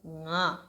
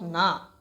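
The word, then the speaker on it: ང: So it's not na. It is not na. So I will try to explain you how to pronounce this sound. If you didn't understand, please let me know. I will try to help you. So nga. Nga it sounds like this. When you say singing in the way, right?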